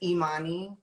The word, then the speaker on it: Imani: Like, my name is Imani. The I's are pronounced like E's.